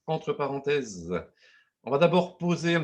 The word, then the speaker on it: (Entre): Donc, présentation du réseau entre parenthèses qui s'écrit entre avec des parenthèses et qui se prononce entre parenthèses.